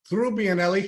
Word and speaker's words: Trubbianelli: turning in her grave if I if I mispronounced her name it's all right so through bianelli has joined us here and thank you for